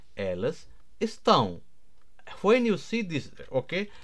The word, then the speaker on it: estão: And if you see here, so this is not estau, it is estão.